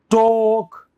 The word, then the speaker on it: talk: तो ए एल से ओ का साउंड आता है, ए से आता है, मतलब एल इनमें साइलेंट था, जैसे वाले में वॉक